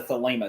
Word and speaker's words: Thelema: How does the great work tie into Thelema? See, I don't know a lot about Thelema. I'm probably not even pronouncing it right.